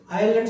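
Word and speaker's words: island: अगर आई और एल के बीच में एस आ जाए, चलो इसी को लेते हैं, आई, आई एस एल, आई, आइलैंड सुना? आइलैंड, आइलैंड, आइलैंड टापू, आइलैंड यानी कोई टापू, यहाँ पर आइलैंड या आई, यहाँ पे एस नहीं बोलना है। आई और एल के बीच में जहाँ एस आया वहां पे एस साइलेंट हो जाता है।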